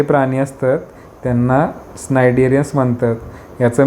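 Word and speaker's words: Cnidarians: स्नायडेरियन्स हव प्रोटेक्टिव्ह कव्र आता हे सिनिडेरियन आता प्रोनन्सशन स्नायडेरियन्स तर त्याच्यामध्ये कुठले स्नायडे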